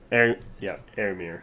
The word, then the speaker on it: Éomer: Éomer. That's how you pronounce it.